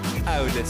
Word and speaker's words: AWDis: AWDis.